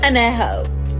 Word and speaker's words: añejo: What the fuck is añejo? It's añejo, puñetas. Añejo. Read. It seems like Rihanna is